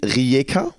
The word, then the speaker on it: Rijeka: Du hast damals in Rijeka, habe ich das richtig ausgesprochen?